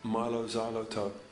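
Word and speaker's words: Mylo Xyloto: think you are our new album is pronounced Milo zyo like xylophone but you can do it anywhere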